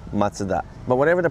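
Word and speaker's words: マツダ: Mazda in the US, and in Japan we pronounce Matsuda.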